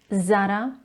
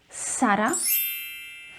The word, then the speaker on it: Zara: Are you pronouncing it as Zara, so Z with a Z sound, or are you saying it even worse, Zara, so you pronounce the first vowel A as an E sound? Then I have to disappoint you because you are saying it wrong and you need to stop doing it. Seriously. Now you have two options with this name. You can either pronounce the letter Z as S, Sara, which is more commonly